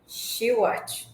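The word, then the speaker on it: Shewhart: nome dele era Walter schart que é assim que se pronuncia eh mas ela já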